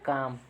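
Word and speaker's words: calm: ये देखिए अगर आपको नहीं पता है तो आप क्या पढ़ेंगे, इसको काल्म से पढ़ेंगे, आप पाल्म्स पढ़ेंगे, ठीक है, लेकिन हमारे साइलेंट फीचर है, अगर लर्न है, आपको पता है तो आप क्या करेंगे, करेक्ट बोल पाएंगे।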